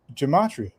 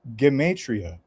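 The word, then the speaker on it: gematria: predictions, but he was explaining this stuff called gamatria. And then I looked into that and I found out that this is actually a real thing, but it's pronounced geatria.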